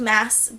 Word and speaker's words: Maas: by Sarah J Maas I think it's pronounced mass but it just comes out moss all the time so sorry if